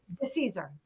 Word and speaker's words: DeCesare: So Hilary DeCesare, oh God, I forgot to ask the pronunciation of her last name. DeCesare, is it DeCesare? What is it? DeCesare. DeCesare, okay.